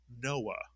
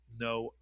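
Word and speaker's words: נח: We call him Noah. But in Hebrew it is Noach mitsuyan. So that's a two syllable word that ends with the syllable ach.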